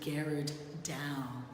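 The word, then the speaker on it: Gerard Dou: New Orleans it's painted by an artist named Garrard down is how it's pronounced he worked in the Netherlands the present-day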